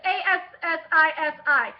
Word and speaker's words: Assisi: It's Assisi. I'm sorry I butchered the name.